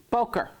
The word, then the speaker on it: boker: Boker. Boker. Okay? Morning. Okay? Broke your toe? Did you broke your toe? Don't say it like that. I would say Broker. Broker. It gives you the right expression.